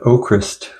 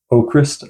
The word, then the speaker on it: AVKRVST: Next up, I've got Oakrist with Waving at the Sky. Now, this band spells their name A V K R V S T, but the V's are pronounced as U's, so it's pronounced Oakrist, I believe.